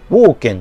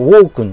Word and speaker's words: Walken: いる、名前はね、ウォーケンって読むらしいんですけど、ウォークンじゃなくて、ウォ